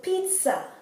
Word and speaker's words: pizza: And here the letter I is pronounced like the I in Spanish, eat. So it's pizza, right?